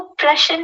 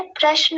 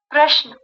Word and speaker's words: प्रश्न: जी, वो प्रश्न नहीं होता है, प्रश्न होता है। उसमें जो शकार है वो आधा होता है। प्रश्न।